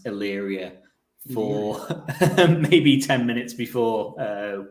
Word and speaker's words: Illyria: I've been trying to work out, or been half practicing how to pronounce Illyria for maybe 10 minutes before we I have not spelt it correct first go once.